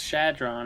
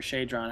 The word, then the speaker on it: Shadron: or healing here is one of the Drakes shadron or shadron however you want to pronounce it basically the thing with